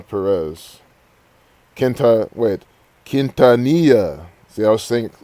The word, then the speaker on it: Quintanilla: for last but yeah i really want selena kentanyana perez kenta wait quintanilla see i was thinking saying her name wrong because i was spelling it different in